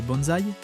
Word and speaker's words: BNSI: Originaire de Tokyo, le groupe BNSI prononcé bonzai a lancé ses activités en août avec le slogan percutant delete noise.